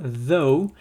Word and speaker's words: though: Donc vous l'avez déjà entendu une fois, though, voilà, il faut prononcer comme s'il s'était écrit T-H-O.